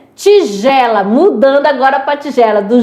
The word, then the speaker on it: tigela: Tigela. Mudando agora pra tigela do G e do J, né? Tigela é congelo, você não vai falar tiguela, né?